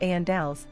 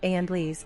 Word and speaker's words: Andals: crew, Andals is pronounced Andals, the emphasis is on the first syllable and the second A clearly enunciated.